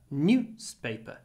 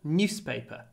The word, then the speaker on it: newspaper: short o paper newpaper newspaper newspaper newspaper so the vowel in news and the vowel in newspaper sound very different News newspaper News newspaper